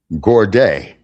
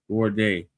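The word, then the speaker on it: gourde: Z O U R D E Z O U R D G O U R D E Gord. Gorde.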